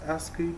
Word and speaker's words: ASCII: ASCII, pronounced ASCII, is short for American Standard Code for Information Interchange.